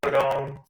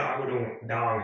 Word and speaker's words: Agudong: Yeah, it's pronounced the way it sounds. A is like the lowercase o. Goo is GU, but instead of GOO, it's like GU. So it's Goo, then Dong, DONG, Dong.